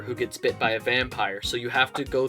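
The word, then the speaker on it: Vampyr: as a vampire it's not like it's not vampire no it's it's pronounced uh vampire okay cuz usually like y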